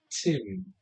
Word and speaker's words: Thim: some call me Tim. But it's spelled Thim.